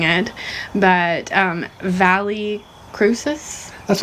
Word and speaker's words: Valle Crucis: But Valle Crucis? That's how I call it, Valle Crucis. I've heard people call Valle Crucis in North Carolina. Too, but yeah, Vallecrucis. Yeah, and it's actually a Latin word, and I had no